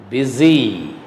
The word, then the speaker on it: busy: Listen to me carefully how I am pronouncing these words. Advise, muse, rise, praise, fuse, wise, busy. Means in all these words, S is pronounced as Z.